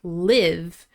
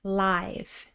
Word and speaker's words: live: Be careful not to pronounce this like the verb live with a short I sound. That's not the word we're using here. This is the word live with a long I sound, live.